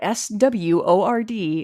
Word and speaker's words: sword: I know it's not, but SWORD looks like sword. It does not look like sword. It looks, because that would be SOWRD, sword.